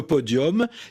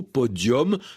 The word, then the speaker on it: podium: du 20e siècle et il a gardé un accent latin avec un nu qu'on prononce comme un eau podium.